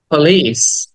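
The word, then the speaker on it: police: টাকে টেনে বলতে হবে পলিস পলিস ই টাকে টেনে বলতে হবে পলিস এন্ড ওয়ার্ড নাম্বার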